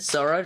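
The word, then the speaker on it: ぞ: Yeah, but that's not the way that you pronounce it. You pronounce it as Zo.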